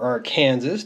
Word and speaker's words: Arkansas: the band Black Oak Arkansas or our Kansas depending on how you prefer to pronounce it um they tried to